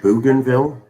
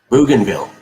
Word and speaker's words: Bougainville: b o u g boog b-o-u-g gain as in uh getting something g-a-i-n so b-o-u-g g-a-i-n boob game oops why does it do that what is it bougainville i misspelled that um